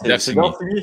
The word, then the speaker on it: Darcigny: C'est Darcigny. C'est comme ça qu'on prononce ça? Ouais.